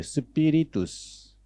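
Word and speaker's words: spiritus: 그리고 라틴 말라는 스피니투스에요 스피릿두스 이것도 한번 발음해보세요 스피릿이 나온 영어가 뚜스만 빼면 돼요 스피릿 0에요 0 인데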